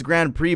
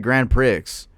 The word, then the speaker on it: Grand Prix: In what world is it pronounced Grand Prix? Look this up. I know I know it's Grand Prix, but I said Grand Pricks, dude.